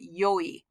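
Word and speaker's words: 良い: pronounced e but sometimes if you want to sound poetic or you want to sound old-fashioned you're going to pronounce it yoi and you're certainly going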